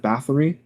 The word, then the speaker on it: Bathory: Blue Archive fans listening to us, and Elizabeth Bathory, that's how you pronounce it, in Fate Grand Order.